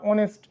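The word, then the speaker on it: honest: মনে করি যেমন আমরা অনেস্ট। এখানে এই দিয়ে যদিও বানানটা শুরু। কিন্তু এইচ এর উচ্চারণ সাইলেন্ট থাকে। যে কারণে এইচ এর পরের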